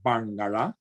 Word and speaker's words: Barngarla: As it happens, Barngarla is pronounced with a retroflex of the N and a retroflex of the L, so Barngarla.